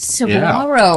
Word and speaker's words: Saguaro: it up oh yeah the g is silent Saro Blossom if you happen